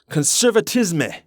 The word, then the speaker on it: conservatisme: The first ideological camp that emerged was called, thank god I took French in high school so I could pronounce this conservatisme or for you English speakers out there, conservatism.